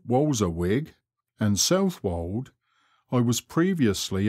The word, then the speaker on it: Walberswick: to the sea between walberswick pronounced walzawig and southwold i was